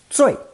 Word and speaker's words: 最: Together, this new character is pronounced fourth tone, 最.